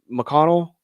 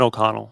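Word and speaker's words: O'Connell: And who's the is McConnell? I always say the last name wrong. Who's the coach for the Kevin Okonnell.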